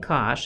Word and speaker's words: cosh: So the derivative of sinh is cosh, like this is how you say it, sinh and cosh, so kind of like just the derivative of sine is cosine.